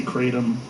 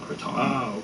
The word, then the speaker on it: kratom: say it people say kratom oh you're the only one I've heard sacred Kong people in it's a Thai word people in Thailand call it Croton so people in the